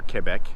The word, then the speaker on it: Quebec: quebec city you know both in quebec canada or quebec if you want to use the correct pronunciation and that is what